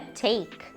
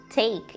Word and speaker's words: take: Geralmente quando nós temos um E no final de uma palavra em inglês, ele não é pronunciado.